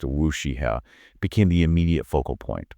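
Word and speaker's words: WuXi AppTec: But digging into the details of the biosecure act, one company in particular, Wooie appeek that's pronounced a wooshiha became the immediate focal point.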